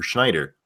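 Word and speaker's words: Snider: Snyder or Schneider. How do you say his name? Snyder.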